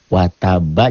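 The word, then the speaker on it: وَتَبَّ: Wataba jadi watab.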